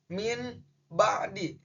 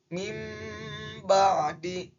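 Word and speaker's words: مِنْ بَعْدِ: Di sini contoh awalan bacanya itu min ba'di. Tapi berdasarkan dengan hukum bacaan iqlab, nun matinya harus digantikan dengan mim. Berarti bacanya menjadi mim ba'di.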